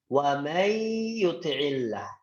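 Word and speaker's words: ومن يطع الله: Contohnya adalah waman yuti'illah menjadi wamay yuti'illah. Ya, menjadi wamay yuti'illah. Wamay yuti'illah. Tidak boleh bacanya waman, ya, bacanya ingat ditahan.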